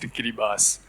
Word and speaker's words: Kiribati: a smallest nation in the Pacific Ocean called Kiribati or it's pronounced Kiribas.